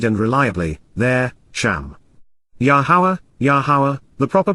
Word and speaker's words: Yahowah: because KY indeed and reliably there sham yahwah yahawah the proper pronunciation of the name of yahwah our eloa